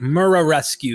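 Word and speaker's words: Muraresku: Murescu. I try to pronounce that correct. Murescu is pretty much how it is looks in English.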